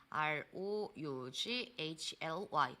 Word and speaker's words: roughly: 한 개만 더 가드리자면 roughly lufoly라고 읽습니다이 루플리라는 녀석도 숫자 수식 부사다라는